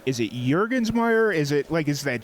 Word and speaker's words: Jurgensmeyer: It's Jet like the plane, Jurgens as in the hand lotion, and then Meyer.